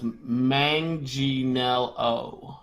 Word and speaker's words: Manganiello: We got a pronunciation. Okay. It's Manganiello.